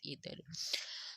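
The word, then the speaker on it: either: इधर इधर का सबसे पहले तो आपको पता हो, कुछ लोग इसको आइदर यूज प्रोनाउंस करते हैं और कुछ इधर।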